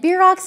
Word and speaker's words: bierocks: and beer rocks and beer rocks might be a word you've never heard of before it's spelled b-i-e-r-o-c-k-s so it's not like beer if you're a beer